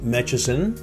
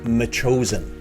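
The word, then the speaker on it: Metchosin: a another municipality and i've heard this pronounced uh mechasin mitchison uh it is me chosen my chosen and of course there's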